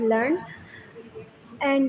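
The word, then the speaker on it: learned: सीखा हुआ वल educated usually written as लर्न एंड pronounce with two syllable लर्न एड here it is pronounce as one syllable to reflect an ordinary person way of speaking यह एक जो है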